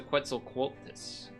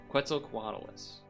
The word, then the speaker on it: Quetzalcoatlus: Nope, that's a Quetzalcoatlus. Normally I can say this because I know this one. Quetzalcoatlus. That. I knew I was saying it wrong. Quetzalcoatlus.